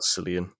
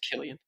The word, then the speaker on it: Cillian: we can pronounce his name properly it's about cilian but it's pronounced killian yeah i'm bad with names that's fine i